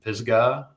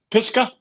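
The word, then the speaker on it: Pisgah: It's the third year for this race and it's in Pisgga. Is that I always say that wrong. Did I say it right? Pisca.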